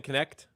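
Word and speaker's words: Knecht: Dalton Connect.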